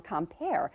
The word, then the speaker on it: Quimper: I mentioned to you earlier about my friend Eleanor serving the currant tarts on Compere. Actually, that word looks like it's spelled quimper, Q-U-I-M-P-E-R.